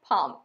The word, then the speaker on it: palm: পামের এলটা silent, পালমাইরা, পাম। নামটা একটু বড়, Palmyra, palm.